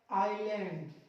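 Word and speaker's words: island: इसमें भी देखो एल से पहले एस आ रहा, आइलैंड, आइलैंड, आइलेट्स, आइल, आइल।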